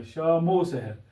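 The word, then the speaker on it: شام و سحر: अल्फाज को जोड़ता है, लेकिन इसका जो तलफ़्ज़ है वो इस तरह है ओ। तो हमें क्या करना पड़ेगा, ये वाव जो है इसको मीम के साथ तलफ़्ज़ करते वक्त जोड़ना पड़ेगा, शामो सहर, यानी इस तरह मीम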